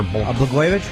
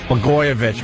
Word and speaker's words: Blagojevich: That governor in Illinois, Blagojevich, or Blagojevich? Blagojevich, right. Blagojevich.